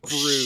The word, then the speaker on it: Bruss: Last name BRUSS, pronounced Oh, Bruce.